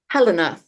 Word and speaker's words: Helena: name Helena or Helena Helena Hela okay just think of it the accents on the first syllable got it Helena okay